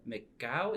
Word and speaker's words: McGough: And today we have Cecilia McGough. Is that how you pronounce the last name?